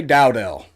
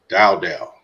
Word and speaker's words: Dowdell: But how do you pronounce the one kid's name with the D, the starter? Dante Dowdell. Dowdell.